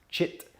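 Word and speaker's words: cit: or consciousness the yogis call it chit c-i-t pronounced chit okay chit is this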